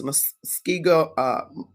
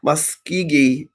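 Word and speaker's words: Muscogee: And so various tribes who had enslaved Africans, such as the Seminoles, Chickasaws, Choctaws, Cherokees, Muskego, I keep saying it wrong, Muskegee Creeks.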